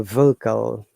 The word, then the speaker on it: vocal: And the surprising matter is that in vocal there are two schwa sounds. There is another schwa sound after K. So C, if you remember, let's see, we'll come later, is called strong sound here. The C sounds like K. That's why it's vocal.